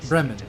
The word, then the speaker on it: Bremen: The problem I think is we we have places called Bremen here and so here we would say it breman with the place is called breman in the United Statesman